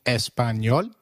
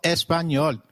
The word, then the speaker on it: Español: It is pronounced as ni, like in canyon. So, can you try saying Español? It is called Español.